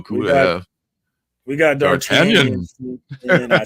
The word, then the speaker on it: D'Artagnan: We got D'Artagnan.